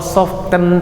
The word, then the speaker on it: soften: Kalau soften tadi tulisannya, mana yang silent? T-nya.